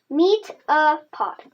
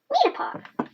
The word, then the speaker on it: Metapod: Meet-a-pod. Pod. Metapod.